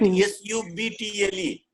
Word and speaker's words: subtle: If you write S-U-B-T-L-E, student will say that's subtle.